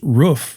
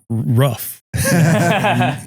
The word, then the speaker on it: roof: So we'd sit at the Dairy Queen and they'd talk to me about like, "Okay, it's pronounced roof, not rough."